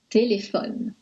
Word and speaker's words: téléphone: Quand la dernière syllabe est muette, comme dans téléphone, la syllabe ne est muette, on accentue la syllabe précédente, téléphone.